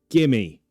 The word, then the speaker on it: give me: Instead of give me, say it like this. Gimme.